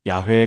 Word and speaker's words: 야훼: 오늘날 대부분의 학자들은 원래 발음이 야회에 가까웠을 것이라고 추정합니다.